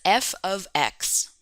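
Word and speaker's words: f(x): in this way and we pronounce f open brackets x close bracket as f of x let me write that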